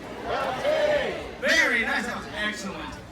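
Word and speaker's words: Kaltxì: about everybody, the Na'vi word for hello is Caltech. So let's all try that. Caltech! Caltech! Very nice. That was excellent. Excellent pronunciation there, sir.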